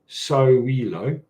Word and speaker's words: Sowilo: So the sun, so Sowilo, which is pronounced Sowilo, right?